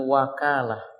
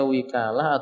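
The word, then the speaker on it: وكالة: hal tersebut Dewi kala bisa dibaca juga dengan wakalah wownya dibaca Fateh Hai kadang-kadang dibaca dengan kasrah maka bacanya witala atau apa wakalah ada orang mengatakan wakal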